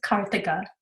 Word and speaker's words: Karthika: My name is Karthika. It's not very difficult to pronounce. The H is not silent. It's actually there.